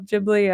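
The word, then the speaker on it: Ghibli: correct pronunciation of of jibli I mean I'm assuming I I had always heard it it was jibli you know like like with the J I guess even though it's GH but uh it's like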